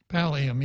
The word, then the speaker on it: pallium: But anyway, I was curious why I didn't notice any of the elected officials at the how do you pronounce it, Pallium? Pallium, yeah.